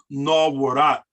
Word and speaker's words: nawarat: Well, in this word, you have a suffix AT, at, which is pronounced at, as in the word hot, something that is hot. Nawarat, nawarat.